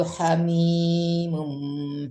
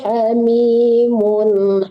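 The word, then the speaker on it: حَمِيمٌ: Wala yas'alu hamimun wala yas'alu hamimum hamima. Jangan mum ya, tapi mun, izhar, harus jelas tanwinnya dibaca ya. Jangan ada samarannya, andong ya, soalnya itu nggak dengung ya. Wala yas'alu hamimun hamima.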